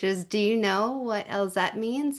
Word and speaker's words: Elzette: Well, we'll just start with the first question, which is, do you know what Elzette means? Did I say it right? Elzette? Yes, you said it correctly.